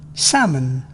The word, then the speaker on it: salmon: L is often not pronounced before L, D, F, M, K. calm, Half, salmon, talk, balk, rude.